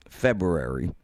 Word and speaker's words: February: go back a year february it's a tough one to say there's a second r in there nobody pronounces it february i won't even try february early february 2020